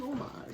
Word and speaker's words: homage: Yes, it was an homage. Beautiful. See, that's perfect French pronunciation.